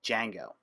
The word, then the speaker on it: Django: time the pronunciation I which I can't pronounce pronunciation of Django is the silent Django when I first started learning Django uh I